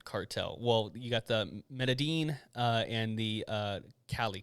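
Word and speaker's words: Medellín: about the colombian cartel well you got the medean uh and the uh cali cartel which is the uh well the melody is how you pronounce it yeah that is by the the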